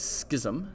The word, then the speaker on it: schism: first split okay that is called the great schism is how you pronounce this there's a short text that you